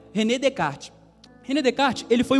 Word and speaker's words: Descartes: escapar tá bom o nome dele é Renê de kart né francês né mudou o microfone de novo tá vendo aí é René Descartes René descarte ele foi o pai do racionalismo